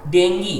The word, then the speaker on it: डेंगू: तो जो पढ़े लिखे लोग होते हैं वो डेंगी बोलते हैं, और जो लोग बहुत ज़्यादा पढ़े लिखे नहीं होते वो क्या बोलेंगे, डेंगू, ठीक है।